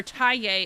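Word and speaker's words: Thaye: Or Taye is how you say it officially. Taye. I like that. Taye. Like instead of Deogen, it's Deochen. They're not English words, so that's why it sounds weird, but everyone says Deogen or just Dio.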